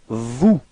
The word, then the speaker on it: vous: And then vous. Same thing, final S is not pronounced.